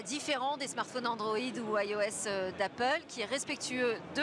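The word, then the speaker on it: /e/OS: hein il y a aussi iOS ça s'écrit eos et là c'est un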